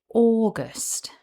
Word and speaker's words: August: The guidance from the Cambridge online dictionary shows that this word has two syllables and the stress is on syllable one. It's pronounced August.